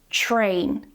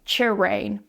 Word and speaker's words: train: So make sure that you're pronouncing that CH and R together TR TR you're not pronouncing it separately like CH like ch-rain, train train.